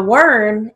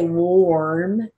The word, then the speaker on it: worm: o storm term firm now worm is a short o we don't say warm i get that a